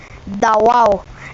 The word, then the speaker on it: Davao: a gentle vowel ending, although later pronunciation is with a hard V or B. The Klata or Gyangan or Jangan call it Davao, and the Tagabawas call it Dabo.